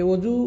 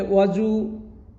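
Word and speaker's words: الوُضوء: আমরা অনেকেই বলি ওজু আরেকটা বলে ওয়াজু আরো বিভিন্নভাবে মানুষ বলে থাকে। তো আসলে এই শব্দটির সঠিক উচ্চারণটা হলো এমন ওযু ওর উপরে পেশ হবে।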